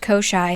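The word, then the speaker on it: Koschei: an idea it's kosai I looked it up it says that it's pronounced kosai all right we're embarking on another pronunciation Journey so who is kosi you ask he is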